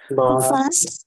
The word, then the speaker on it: was: প্রথমটা ভাস, ওয়াস, was, ভান, ওয়ান, ভেয়া, wer, ভি, wie, wie, warum, warum, wo, wo, woher, woher, der, wohin। wohin, wohin, এই যে ডব্লিউটাকে আমরা ভি উচ্চারণ করতেছি, সবসময় ভি উচ্চারণ করবেন।